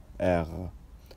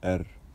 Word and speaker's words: R: ومعانا النهارده حرف الاغ، لا لاتر اغ. طيب انت ممكن تنطقوا اغ وممكن تنطقوا ار، بس لو عايز تنطق زي الفرنساويين انطقوا اغ. طيب المهم ان الاثنين صح.